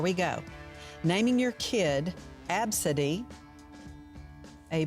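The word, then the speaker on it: Abcde: travesty so here we go naming your kid absidy a b c d fee a b c d e that's how it's spelled wow pineapple on pizza is that a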